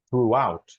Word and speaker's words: throughout: Yeah, throughout. It's two words. It's through and out. So you Out. put them together, throughout.